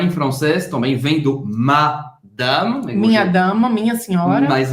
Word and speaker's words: madame: Acaba no M. Madame. Madame. Você não pronuncia o E no final. E presta atenção porque o A, esse segundo A da palavra, ele não vai ficar nasalado, porque geralmente em português vai dizer madame. Não é madame, é madame. Madame. Os dois A's são abertos, não são nasalados.